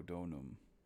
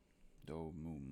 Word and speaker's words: Domum: For my family and Draco Donum. Domum, I should say.